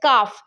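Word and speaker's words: cough: রাফ আর ও ইউ জি এইচ আবার রয়েছে কাফ সি ও ইউ জি এইচ অর্থাৎ ও your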